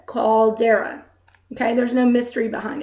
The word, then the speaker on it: caldera: it oh my god this word is pronounced exactly as it's red called dara okay there's no mystery